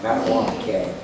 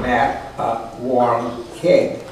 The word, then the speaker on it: Mattawamkeag: Wytopitlock and Mattawamkeag are pronounced essentially as written. Wytopitlock, Mattawamkeag. Thus, wit, o, pit, log, and mat, a warm keg. Principal stress on the penouse.